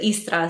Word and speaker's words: Istria: a 7-Day itinerary through istria in Croatia we pronounce it estra so you drop the second I but the istrian peninsula